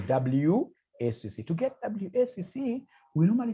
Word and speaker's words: WACC: There is somebody who pronounced this as Wakaka. No, it's supposed to be WACC.